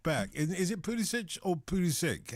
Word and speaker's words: Pulisic: Is it Pulisic or Pulisic? How do you pronounce it?